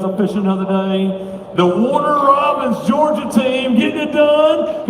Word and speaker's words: Warner Robins: Every morning you say we're from Robbins, Georgia. It's Warner Robins, Georgia.